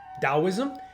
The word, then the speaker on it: Taoism: Taoism is spelled with a T, but it's pronounced with a D, Taoism, and Qigong is spelled with a Q, but it's obviously pronounced Qi.